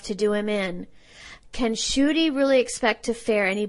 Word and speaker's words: Schuette: Of course, it's not spelled the way it sounds. Those of you playing along at home, Schuette. So I'm glad to know the pronunciation, certainly. And maybe he should think about changing it to.